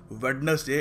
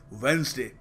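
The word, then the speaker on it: Wednesday: कहते ही वेडनेसडे है so please make श्यर that it इज नॉट वेडनेसडे इट इज वेनसडे तो अगली बार जब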